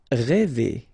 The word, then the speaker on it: rêver: Rêver, okay, accent circonflexe, so this accent on the top of okay, will produce the sound really open one, okay, so rêver.